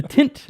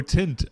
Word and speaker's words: Tynt: the tit Meadow yeah no not really the tint Meadow it's the like pit uh it's like maybe I'm pronouncing it wrong T Y and T oh tint oh tin like a tit Meadow yeah no not tit Meadow and and you understand